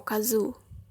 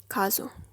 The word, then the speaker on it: Kazu: put in Casas name Kazu or kazoo on the first syllable kazoo the events of the story